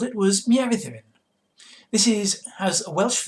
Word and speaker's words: Mieridduryn: So, Mieriddian um is how you say it, and not as one uh YouTuber uh basically gave up and called it Binks, which is imaginative at least, but you know.